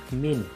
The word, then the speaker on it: mean: Kemudian min, tulisannya mean, membacanya min, atau rata-rata dari jumlah data tersebut.